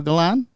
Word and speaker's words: Galan: el Galan El Galion where's the I where's the e a n is there g a l it's g a l a an the eye is silent the Eye Is So Silent it's not even in there it's not even there right the eye is